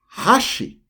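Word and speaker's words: 箸: i were to say with a high pitch hashi hashi hashi is chopsticks for number three hashi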